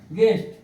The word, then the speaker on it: guest: ठीक है, और एग्जांपल देख लीजिए, जैसे एग्जांपल के लिए GUEST, क्या हो गया, गेस्ट, गेस्ट मीन्स अतिथि, अतिथि, अतिथि या मेहमान जो भी कह लीजिए।